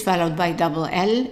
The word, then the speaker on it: elle: So she is E-L-L-E, and the E at the end is silent. So we only pronounce the E-L. Even this L, we can consider it as silent. So how do we pronounce it? L, L, L. So the E here is pronounced as an A, and that's because it's followed by double L.